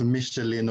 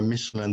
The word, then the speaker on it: Michelin: For better English pronunciation. And so for those who know of Michelin or Michelin, that's a tire company.